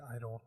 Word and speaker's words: (G)I-DLE: But then in English they spell it as like G-Idol. So it's like idol. But I-DLE.